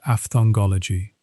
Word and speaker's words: aphthongology: It is called aphthongology. The word itself contains a silent letter, the P at the start, which makes it a self-referential term.